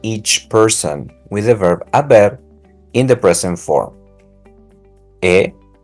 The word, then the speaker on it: haber: You're gonna go with the verb haber. So here's the chart with the conjugation for each person with the verb haber in the present form. He, has, ha, hemos, han. Remember that the H is silent.